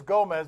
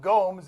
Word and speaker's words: Gomez: now it's funny because I think my father's actually pronouncing that right it is Gomez but we call him Gomes and everyone calls him Gomes but I think it is actually Gomez he says it's the